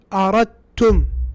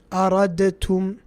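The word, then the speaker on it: أردتم: So this we pronounce as aradtum, aradtum. Where is the dal? Nowhere to be seen. Why? Because of idgham.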